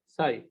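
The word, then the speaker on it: psi: को क्या बोलते हैं, साई। C. सी नहीं, साई बोलते हैं ना। PSN. हाँ पी साइलेंट है, अब साई बोलते हैं, सी बोलते हैं, पता नहीं, साई बोलते हैं।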